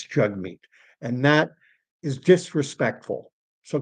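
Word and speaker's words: Jagmeet: If you've never if you don't know that it's jug meat and you just read it, it looks like jag meat.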